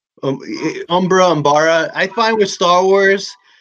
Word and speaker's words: Umbara: I was looking for a Pong krill, and I Googled images, and that one came up because Battle of Umbra? Umbara. I find with Star Wars, everybody pronounces everything different, but I feel it's all right because George Lucas changes it up.